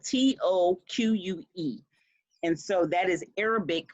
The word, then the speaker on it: toque: to look up how to pronounce it because it's spelled t-o-q-u-e and so that is arabic for hat it's